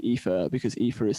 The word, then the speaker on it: Aoife: If I say my name, lots of people say Ether and Aoife.